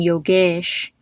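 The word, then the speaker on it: Yogesh: vowel is e so e is pronounced like e like as in bed or never or egg so you would see this in the name yoges or in the name rames the other way to pronounce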